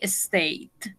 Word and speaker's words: stayed: Stay, stayed. ¿Yes? De igual manera, no pronuncio esta E, no pronuncio esta E, no pronuncio esta E. Played, enjoyed, stayed.